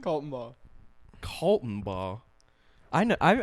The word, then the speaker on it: Kaltenbaugh: But Brandon Kaltenbaugh, is that how you say it? Kaltenbaugh. What? You were way off. I always thought it was Clattenburg for some reason.